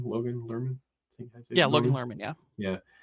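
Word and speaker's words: Lerman: particular as well as Logan lurman is how you say his name Logan lurman yeah Lan lurman yeah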